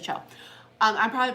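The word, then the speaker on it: choux: it yeah they're seed c-h-o-u-x that's what it is a show um I'm probably pronouncing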